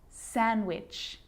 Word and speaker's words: sandwich: silent too wednesday handsome sandwich so i'm not pronouncing the d in san diwich i'm just pronouncing the consonant n sound before it try it with me